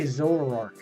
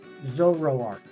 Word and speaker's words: Zoroark: always struggle with not because it's a hard pronunciation necessarily it's hard for me I say zorark Zoroark I don't know it ends up getting garbled in my mouth Zoroark uh Ricardo lefoni nice uh doing well yeah